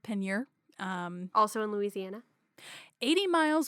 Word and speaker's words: Peigneur: Peigneur is how the Google Translate just told me how to say it. But again, French is, we're going to go with Peigneur.